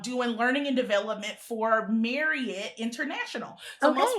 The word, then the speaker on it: Marriott: So most people say Marriott or lots of I don't want to say most people but lots of people especially in the south Marriott. See they actually it's Marriott. Yeah. They actually pronounce their name like Marriott. Exactly. The way I always remembered it is how some person told me was like, "If you love it, you'll marry it."